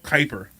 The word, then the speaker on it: Kuiper: I also want to thank our in-house producer, Mike Keeper. Thank you so much. As always, Kuiper. I always get his name wrong. Isn't that terrible? Mike Kuiper.